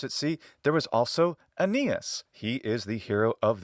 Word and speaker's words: Aeneas: In classical Attic pronunciation, his name is Aeneas, and in Latin, it's Aeneas. And modern Greek pronunciation of the ancient name is Aeneas.